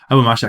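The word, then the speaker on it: Abu Ma'shar: Abu Mashar, sorry, I should pronounce his name right. Abu Mashar, he's the first one who really we have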